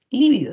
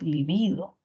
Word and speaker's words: libido: refiere al deseo sexual No es líbido sino es libido y es grave por lo que no lleva tilde mientras que líbido que